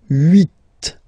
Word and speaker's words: huit: Then here, final T is pronounced, so huit, huit.